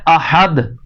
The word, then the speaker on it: احد: کے پڑھ رہے ہیں۔ مثال کے طور پہ جیسے لفظ ہے احد، احد، یہ اس کی درست ادائیگی ہے۔ تو کسی نے کر دیا احد، تو کیا کیا اس نے؟